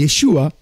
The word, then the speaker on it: Yeshua: pas une vraie voyelle quand il y a le Cheva en dessous ça veut dire qu'il n'a pas de voyelle h ça veut dire